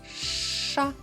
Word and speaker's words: ш: Звук можна почути та вимовити. На письмі звук «ш» можна записати буквою. І називається вона так само – буква «ша».